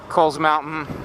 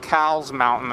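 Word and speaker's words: Cowles Mountain: to ride up past Coles mountain and some people it's not called cow's Mountain it's called Coles Mountain could look it up a lot of people say the name wrong even I used to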